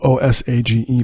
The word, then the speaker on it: Osage: So it's spelled O-S-A-G-E, but it's pronounced O and then Sage.